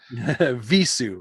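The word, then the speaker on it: Vheissu: I've never known how to say the title of this record, so I Googled it. Yeah, It's Hebrew. Visu.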